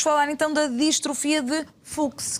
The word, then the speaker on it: Fuchs: então da distrofia de Fuchs, que eu não sabia pronunciar, fui aprender. Mas é exatamente assim que se diz. E a minha produtora fomos aprender a dizer, e diz-se distrofia de Fuchs.